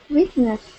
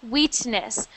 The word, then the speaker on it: witness: Witness. So that is pronounced witness, not wheatness. So you are going to make that sound I, not E.